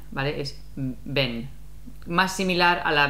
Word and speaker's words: ven: Y un tip, en español, la V se pronuncia como la B. La B. No es ven, ¿vale? Es ven.